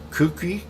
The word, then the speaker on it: KUKE: Kookie.